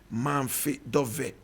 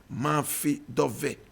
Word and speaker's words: Mafi Dove: Mafi Dove. Mafi Dove. Mafi Dove. Please correct it. It's Mafi Dove. Mafi Dove. Mafi Dove. Not Monday. Mafi Dove. Mafi Dove.